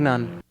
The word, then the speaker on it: none: Absolutely none. Absolutely none. Absolutely none. Absolutely none. Short U pronunciation, right?